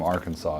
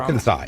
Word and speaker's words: Arkansas: Arkansas. It's Arkansas. Arkansas. It's literally how it's spelled. There's no way that you can make SAS equal saw.